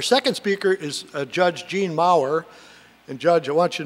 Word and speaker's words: Maurer: Our second speaker is Judge Jean Maurer. And Judge, I want you to know the note said it rhymes with power.